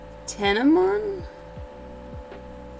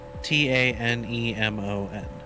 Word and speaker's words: Tanemon: which way to go tenemont how do you spell that t-a-n-e-m-o-n oh tanemon um oh okay the